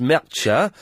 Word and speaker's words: Mertxe: The name Mertxe is pronounced Mertxe, and there was something else.